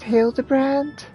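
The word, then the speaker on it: Hildibrand: It's pronounced hild the brand.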